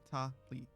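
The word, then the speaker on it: Tali: says it I think her name is two syllables like consonant vowel consonant vowel ta Lee the ah sound in tall without the L so Taw but not to not have Li I think is her name looking for supplies ooh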